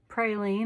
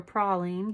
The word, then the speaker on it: praline: Let's see, praline or praline, depending on where you are. We went to New Orleans and they said it's pronounced praline.